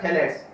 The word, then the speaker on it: phthalates: तो P silent है, इसमें ध्यान रखना, पी और एच साइलेंट है, पी और एच साइलेंट है, तो इसका नाम क्या हो गया, थैलेट्स।